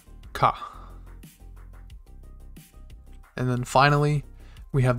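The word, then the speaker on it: か: Pronounced ka.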